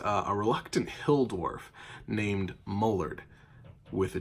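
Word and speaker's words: Mollardg: Well, when I asked him what his name was, he specifically said, my name is Mullard, with a G. The G is silent. M-O-L-L-A-R-D-G. So it's Mullard, and the G is silent.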